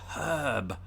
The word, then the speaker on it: herb: getting all confusing um but it's herb herb although we don't pronounce the r in in herb as brits either unless you're from the west country you might then and you might drop the h it was a nice